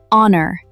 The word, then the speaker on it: honor: Because the H is silent. We don't pronounce it.